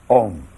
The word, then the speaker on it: Om: Om pronounced starts in the back of the mouth, then fills the mouth cavity, oo, and closes at the lips, When properly pronounced, you have made all the noises.